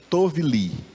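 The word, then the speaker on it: טוֹב לִי: Repita assim, tovli.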